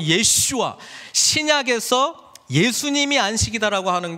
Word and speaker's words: 예슈아: 여러분, 여호수아, 히브리식 발음은 예슈아, 신약에서 예수님이 안식이다라고 하는 게 히브리서에 나와요.